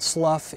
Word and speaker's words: slough: two meanings one meaning if you pronounce it Slough is to shed different layers until you